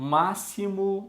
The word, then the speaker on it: máximo: som Anápolis o impossível o máximo o X tem som de ss acesso eu tenho som